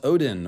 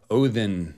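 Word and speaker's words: Óðinn: this is all about odin or odinn as we will say in the old norse pronunciation today he is the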